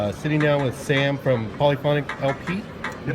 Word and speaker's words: Polyphonic LP: I'm sitting down with Sam from Polyphonic LP. You pronounce that correctly?